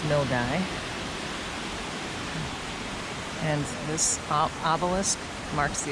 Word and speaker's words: Milngavie: We are in Milgy, which is spelled like Milgabi, but it's Milgy.